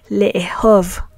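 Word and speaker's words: לאהוב: So the first example of a pa'al verb here is to love, and it is indeed pronounced as le'ehov.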